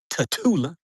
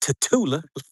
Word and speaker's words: Tatula: Tatula. You got to say it like that. Tatula. Like you're trying to spit some out your mouth.